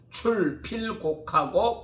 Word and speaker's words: 출필곡: 출필곡하고 반필면하라. 한자로는 고할 고자인데 읽을 때는 곡이라고 읽는다 그래요.